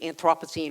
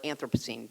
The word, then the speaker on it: Anthropocene: what has been called the Anthropocene or Anthropocene, depending on how you pronounce it.